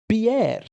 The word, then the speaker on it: Pierre: But yes, so the answer is South Dakota, the capital of which is Pierre, which is the French Ah.